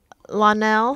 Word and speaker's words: Lionell: Lionel.